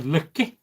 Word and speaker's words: Loki: Or Loke, or depending where you come from in in Scandinavia. But we tend to pronounce things the English way, whereas, you know, I mean if we said Loki in Sweden or Iceland, it's slightly different.